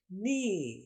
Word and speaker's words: knee: اگلا لفظ ہے نی. KNEE نی. یہ اسپیلنگ ہے اور اس کا مطلب ہے گھٹنا. اس کی آواز میں دیکھیے نی میں جو آواز ہے وہ خالی N اور E کی آواز ہے.